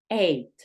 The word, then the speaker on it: ate: eight, Ate. eight. En este caso la A toma un sonido abierto, el cual va a sonar eight.